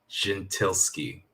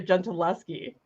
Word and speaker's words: Gentileschi: it um artemisia gin gentilsky how do you say it well i mean i'm not italian but the the correct sort of pronunciation artemisia gentileschi yeah see that would